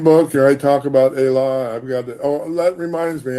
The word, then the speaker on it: Ela: Ela Yeah. is E-L-A, Ela. E is pronounced A in Yoruba. It's just like Spanish.